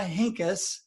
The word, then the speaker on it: Henkes: for the guest i have on today tamara hinkis and i pronounced that right didn't i yes so i've